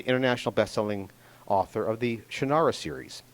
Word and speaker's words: Shannara: He's the international best-selling author of the Shannara series. He pronounces it differently. It's Shannara. That's how it's spelled. That's, of course, how you pronounce it. He's wrong. I'm right.